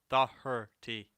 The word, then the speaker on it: Doherty: It's even in the uh, name, like her. Doherty.